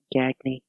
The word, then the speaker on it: Gagne: Alliance, and together with Gagne started AWA. Gagne. No, Gagne. I know. I would have pronounced it Gagne if I did not know the name.